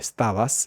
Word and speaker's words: estabas: La ES de estabas se pierde y la B entre A y A de Stabas casi se pierde.